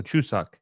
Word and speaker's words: Chuseok: So Chuseok. Okay, cool. So I think I did pronounce that right the first time.